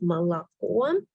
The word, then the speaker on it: молоко: So first letter O we pronounce as R, right?